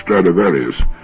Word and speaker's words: Stradivarius: he's ever heard of Stradivarius which is the Latin pronunciation of the name throughout history there'd been